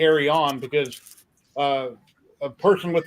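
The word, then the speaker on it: Eryone: sell lots of silk silk film and people mispronounce that a lot too yeah Arion a lot of people say ar1 and I say AR on because uh a person with their company a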